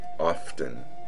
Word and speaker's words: often: a tea or often without a tea it's your choice most people consider either their pronunciation perfectly acceptable however a few people still criticize the pronunciation often with a t your second option play it safe pronounce often without a t everyone considers the pronunciation often to be fine no one will object